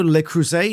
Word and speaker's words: Le Creuset: and the conversation continues where Mindy says, oh, Le Creuset, it's pronounced like that.